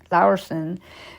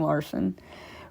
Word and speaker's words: Laursen: Laursen, his name is spelled Laursen, that's why I'm not saying Larson, recovered from his injuries but has never spoken publicly about what occurred that day.